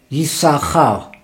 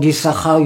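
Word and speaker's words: יששכר: In the word Yisachar, you have two letters, Shesh, Yisachar, even you don't pronounce the two shin.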